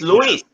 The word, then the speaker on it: Luis: I hear Luis. It's Luis. Yeah. Okay. Luis, yeah.